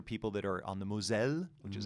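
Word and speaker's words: Moselle: know these are people that are on the mozelle which is how you say in french uh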